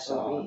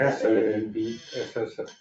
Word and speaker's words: Saab: Yeah, I believe it's S-A-A-B. S-A-A-B, right? That's FOB, okay. I would spell it like sob, F-A-A-B. Oh, but that's because it's not an English name, Saab, Yeah, right? They're Northern European.